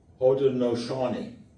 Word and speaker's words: Haudenosaunee: And in those days, the area was populated by the, I've got to pronounce this properly now, Haudenosaunee.